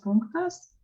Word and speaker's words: punktas: Toliau, kitas punktas.